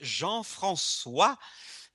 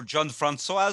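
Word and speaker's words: Jean-François: so my name is Jean franois I know it's hard to pronounce for most English speakers as they go John Fran or whatever oh that's true so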